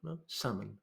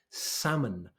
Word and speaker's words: salmon: you probably say salmon salmon and that's it that's the correct pronunciation of the word this is a salmon the L is completely silent it's like the W